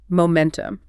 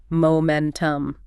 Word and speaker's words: momentum: Momentum. The stress is on the middle syllable. Momentum.